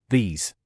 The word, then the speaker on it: these: подобаються ці уроки lessons пробуємо вимовляти правильно слово these E тягнемо як подовжену літеру і S вимовляємо як звук з спробуємо разом these звикайте як правильно вимовляти